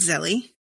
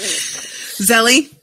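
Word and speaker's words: Zélie: Zelie? Is it Zelie? Yeah, I'm sorry. Go on. We're in the beginning. Is it Zelie? Oh, yeah, it is. It's Zelie.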